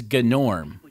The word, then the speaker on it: Gnorm: about a gnome and his name is g'nort yeah that's actually how he pronounces it what are you a